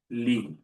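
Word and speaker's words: لِ: So, for now, the l we're going to pronounce it as lee, okay? With a castle at the end.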